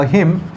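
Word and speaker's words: hymn: ये एक तरह का कॉमन नाउन है और ये होता है अ हिम। हिम का मतलब एक्चुअल में क्या होता है बताओ भाई दोस्तों? अ हिम, इसमें एन प्रोनाउंस नहीं करना है, इसका मतलब होता है भजन।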